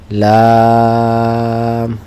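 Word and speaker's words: ل: কি উচ্চারণ? লাম।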